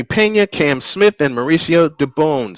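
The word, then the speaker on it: Dubón: To bat for the Astros will be Jeremy Pena, Cam Smith, and Mauricio Dubon. 6, 7, and 8. Dubon is the correct pronunciation.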